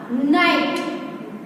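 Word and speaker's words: night: यहाँ पे GH है तो GH का साउंड नहीं आ रहा है, सिर्फ नाइट, न और ट का आ रहा है, GH का नहीं, इसलिए GH दोनों यहाँ पे साइलेंट होंगे।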